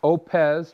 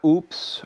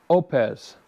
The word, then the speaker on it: Oupes: the mail it's the oupes and it is pronounced oupes not oops or oooh-ps like we'd like to say here in Minnesota oops it is opz I'm pretty excited about this new solar generator